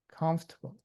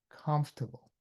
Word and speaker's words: comfortable: example uh the word comfortable comfortable. C O M F O R T A B O E. Um I would say the way we learned in Taiwan was comfortable. Comfortable. But in the US, people say comfortable. Comfortable. They don't say comfortable. They just say comfortable.